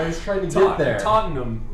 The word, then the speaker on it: Tottenham: need help I was trying to get there Tottenham toam to yeah you got to say it like